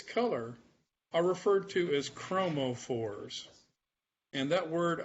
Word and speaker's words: chromophores: are referred to as chromophores. And that word, I'll spell it for you. I'm away from the board. But it's CHROMO. That's chromo. Phore. PHORE. And that literally means color carrier.